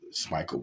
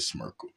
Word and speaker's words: Smikle: apologies for that um I meant to say uh smel but I said smirk look K smich cooked